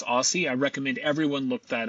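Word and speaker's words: OSSI: Tom Michaels, professor of horticulture at the University of Minnesota and founder of the Open Source Seed Initiative, pronounced Aussie.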